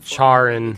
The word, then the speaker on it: Charon: name's pronounced Karen. Yeah, something like Sid that. even said he'd speak to Karen. Charin.